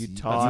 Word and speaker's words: Utahns: Utahns. Utanian? I always wanted to go to Utanian. It's Utahns. you want to say Cool. Utanian?